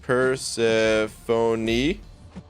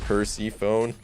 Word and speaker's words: Persephone: the time okay uh persephone is pronounced purse phoney do you pronounce you pronounce the uh the knee at the end okay and percy phone yes and i don't